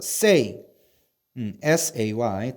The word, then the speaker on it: says: 근데 say에다가 s만 달아주면 says라고 발음해야 돼요. says.